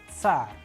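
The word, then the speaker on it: царь: You also need to practice as I am pronouncing. The letter's name is S, S, as we have used an English approximation Tsar, Tsar, and in sample Russian word we have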